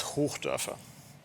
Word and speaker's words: Hochdörfer: If you really want to try to pronounce my last name, it's Hochdörfer.